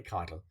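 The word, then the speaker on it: chitin: an exoskeleton and the exoskeleton is made of kiten and the way you write that would be c h i t i n you might think it's pronounced chiten but it's actually Kiton all right then we have mollusks which have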